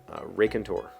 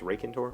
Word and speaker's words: raconteur: literature at Columbia University Ray Contour maybe it's Ray Contour I don't know r-a-c-o-n-t-e-u-r I mean the pronunciation guard guide puts the emphasis on the rack part but I would say it's rocking rock and tour raconteur I